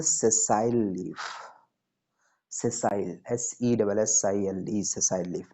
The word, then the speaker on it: sessile: और जिसमें नहीं होता है, जिसमें पेडिसिल नहीं होता है, उसको बोलते हैं सेसाइल leaf. सेसाइल, SESSILE, सेसाइल leaf. Now it's clear, से यस और नो? चलो स्पेलिंग, SESSILE, सेसाइल।